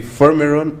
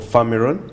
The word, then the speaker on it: Firmeron: r o n formula so it could be fermaron or farmeron depending on your pronunciation it's available on Apple Store for for iPhone users and Android play store 4.